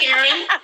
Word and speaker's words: Karine: I pronounce it Karen. It's French, but most people can't pronounce it, so I just go by Karen.